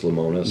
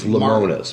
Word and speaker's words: Lemonis: You ever watch the show The Prophet with Marcus Lemonis? Yeah. He's... How do you say it? It's Lemonis.